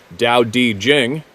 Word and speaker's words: Tao Te Ching: The Tao Te Ching states, pronounced Dao Di Jing.